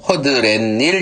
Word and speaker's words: 허드렛일: 그 다음 허드렛일이라는 건 니은이 오면서 여기도 허드렛일 이렇게 된다는 거예요.